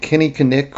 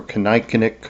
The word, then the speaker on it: kinnikinnick: They would make a mix, and this mix would include the plant kinnikinnick or kinnikinnick, I've heard it pronounced both ways, which is red osier dogwood.